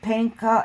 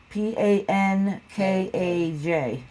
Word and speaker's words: Pankaj: And is Panka, is that how I pronounce it? Panka and Mrs. T. Pankaj.